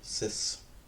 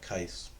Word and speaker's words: cis: And again, I pronounce it cis. Some people pronounce it kiss. You can call it whatever you like. Except for you, Sebastian. You cannot call it kais. That's not real. That's not an option.